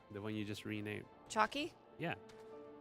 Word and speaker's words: Chockie: one you just renamed chalky yeah how do i spell it yeah c-h-o-c-k-i-e why i'm putting it in title oh chalky chucky chucky it's like chucky but chalky whatever okay i am